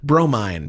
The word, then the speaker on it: Bromine: Bromine. Pronounced bro. Mine.